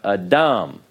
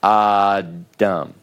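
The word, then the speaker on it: אָדָם: Okay, so we have Adam, not Adam. You put the stress on the last syllable.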